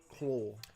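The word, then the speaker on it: Klaue: Look at the way they spelt Claw. Must be South African. Must It be is Claw. That's Claw. how they say it.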